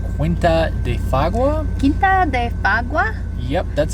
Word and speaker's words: Quinta de Fagua: Quinta de Fagua. Yep, that's how you pronounce it.